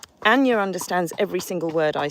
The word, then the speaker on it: Anja: Sorry, at one point I did pronounce the J because I wasn't quite sure. Anja understands every single word I say.